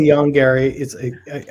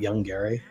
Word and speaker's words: Yongari: I say Yongari. I feel like I'm always saying it wrong because it's like Yongari. It's like, no, it's not Young Gary.